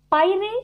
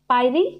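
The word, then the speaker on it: Pierre: So this word P-I-E-R-R-E, you may pronounce differently. So I'm pronouncing like this. Okay. So there might be changes.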